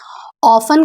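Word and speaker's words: often: ऑफन का मतलब होता है अक्सर। और ऑफन में टी हमारा साइलेंट होता है। इसलिए हम लोग इसको ऑफन नहीं पढ़ते हैं बल्कि हम लोग इसको ऑफन पढ़ते हैं।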